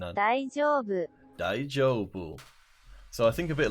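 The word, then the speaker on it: 大丈夫: the pronunciation of it daijoubu so I think a bit longer on the old I joke it's like g jo ii like the name Joe daijoubu ah Playboy's never seen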